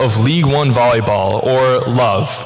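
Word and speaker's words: LOVB: Katlyn is the CEO of League One Volleyball, or LOVE, where it's L-O-V, B is silent, the largest brand in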